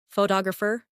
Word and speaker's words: photographer: In English, some words are pronounced with extra emphasis on one part. For example, photograph, photographer, and photographic. The stress moves and that changes the sound.